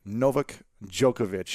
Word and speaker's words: Novak Djokovic: We have the legendary Novak Djokovic. That's great. In the house, man. You pronounced it very well.